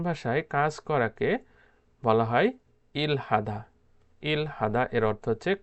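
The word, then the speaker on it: 일하다: উচ্চারণ করে, সেটা হলো ইরাদা। রিউলটা হিউতের কাছে নিয়ে যায় এবং হিউতের উচ্চারণ করে না।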